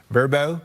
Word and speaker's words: VRBO: Anyway, anybody with an Airbnb or Verbo, that's how you say it, right?